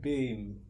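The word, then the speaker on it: Biehn: It's like Bean.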